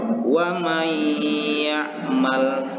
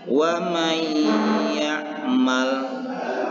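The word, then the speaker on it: وَمَنْ يَعْمَلْ: Di sini nun matinya sudah masuk kepada huruf ya. Nah, cara membacanya wa may ya'mal. Sekali lagi wa may ya'mal.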